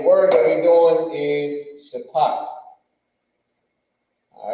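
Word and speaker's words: שפט: that we're doing is shapat. All right. How you do? There we go. I think this is how you do it. Bang, shapat.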